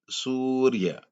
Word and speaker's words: सूर्य: लिए सूर्य शब्द देखिए ध्यान से सु के बाद रा का आवाज आ रही है सूर्य इसलिए यहां या के ऊपर रा